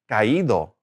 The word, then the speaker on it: caído: Again, accent is caído.